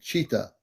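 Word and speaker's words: Chita: it or spell it C yes like like the animal but then c h i t a yes Chi ta cheetah yes all right there you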